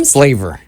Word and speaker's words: Splaver: Splaver. Splaver. Yep. Splaver. Splaver. Okay. Now, say that one more time, just in case somebody's trying to write this down. Dr. Splaver. Splaver. Rhymes with flavor.